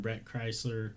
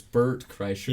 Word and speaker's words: Bert Kreischer: So there was something that Tom Segura and Brett Kreischer, I always pronounce it. It's Bert Kreischer.